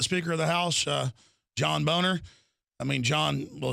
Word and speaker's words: Boehner: The Speaker of the House, John Boner. I mean, John, well, it is pronounced Boner. He tells us to say Boehner.